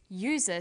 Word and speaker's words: user: And where the vowel U is pronounced y, we use a. So we say an umbrella, but a user, because user sounds like it begins with a Y.